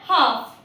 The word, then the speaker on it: half: इसी तरह से जब भी एफ के पहले भी एल आए तो भी वो साइलेंट माना जाता है। जस्ट लाइक CALF काफ, HALF हाफ।